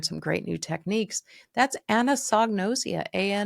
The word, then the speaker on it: anosognosia: had to learn some great new techniques that's anosognosia a o s o let's see a n o s o n o s IIA anosognosia and I spell it for you because people